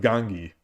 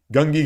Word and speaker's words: Gangi: Gungi is a mispronunciation of Gangi. Gungi Gakoi.